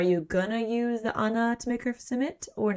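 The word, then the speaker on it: Ait: Kind of like a little compulsion thing, alpha power, otherwise known as Anna, which it's weird because it's spelled AI t, but Gaelic pronounced Anna or an weird.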